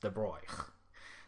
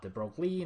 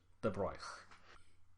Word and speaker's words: De Broglie: By the way, his name is, I believe, according to a French person, pronounced De Broglie. Not De Broglie, not De Broglie, De Broglie.